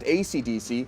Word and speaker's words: Esidisi: Speedwagon, Spice Girl, Green Day, Dire and Straits, they're 2 different people, Sex Pistols, ECDC, pronounced ACDC, Lisa Lisa, Enya the Hag, and Giorno Giovanna.